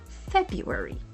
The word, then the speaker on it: February: But in everyday speech, most native speakers simplify it to February. And here's what's happening. The first syllable, Feb, is emphasized and clear. Next up, the R is silent, making the second part sound like February.